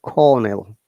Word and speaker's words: colonel: Like other, you know, cast sound is like colonel, though the spelling, but we pronounce it cornel.